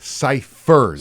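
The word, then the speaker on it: Cyphers: No, you're not pronouncing it right. Ciphers.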